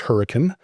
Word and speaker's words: Hurricane: called Hurricane, and that is the way it's pronounced as Hurricane.